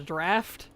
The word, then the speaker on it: draught: Yeah, apparently that's supposed to be pronounced a draft. Like, in all of my leveling guides, when I actually mention that stuff, people, like, rake me over the coals for saying draught.